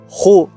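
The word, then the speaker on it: הוא: La palabra él es Hu, se pronuncia Hu, es la 1931, que es una tercera persona en hebreo.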